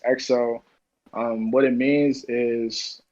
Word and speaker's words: XYO: you oh yeah so my artist name is xyo it's pronounced exo um what it means